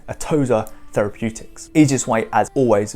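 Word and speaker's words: Atossa: the company's name is atoza i think that's how you pronounce it atozer therapeutics easiest way as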